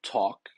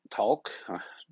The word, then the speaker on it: Taalk: this guy is called talk talk kind of say it like that because of the double a t a a k.